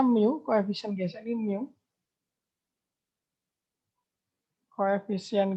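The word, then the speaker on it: μ: Jadi gaya gesek sama dengan mu, ini bacanya mu, koefisien gesek ini mu.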